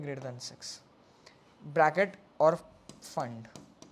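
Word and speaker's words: Pfund: Then six bracket और फंड p silent है।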